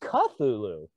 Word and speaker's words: Cthulhu: You know, it's actually pronounced Cthulhu.